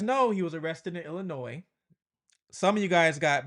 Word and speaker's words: Illinois: out there were say Illinois. we pronounce the S. So when I did my video, a couple people were saying the S is silent.